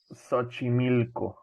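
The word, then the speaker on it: Xochimilco: Fiesta that we were talking about before and pronounce it again for me Sochi Milko Sochi milk go okay yes I could never say that correctly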